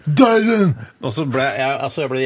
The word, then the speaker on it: Dylan: Bob Dylan, you understand what I mean? No, it's Bob Dylan, Dylan.